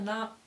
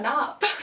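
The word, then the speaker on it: NAHIP: A NOP. A NOP. So a NOP is spelled N-A-H-I-P, and it's a non-athletic, highly irregular person.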